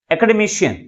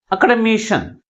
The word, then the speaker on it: academician: That is, fourth syllable is pronounced with a greater force comparing with other syllables. That is academician.